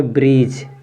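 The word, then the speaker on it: bridge: न्यायाधीश इसके बाद देखो इसको पढ़ेंगे डी के बाद क्या है डी के बाद जीई है तो डी साइलेंट हो जाएगा इसको पढ़ेंगे ब्रिज क्या पढ़ेंगे ब्रीज ब्रिज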